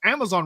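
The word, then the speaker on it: Amaxon: bigger version of the Amazon Riven our world runs red with blood although many pronounced that one as just Amazon because X's are often pronounced as Zeds that's fair for the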